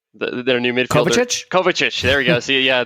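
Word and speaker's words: Kovačić: better because I know once that I can't pronounce the name Kovac the their new mid Kovac Kovac ish there you go see yeah the Eastern European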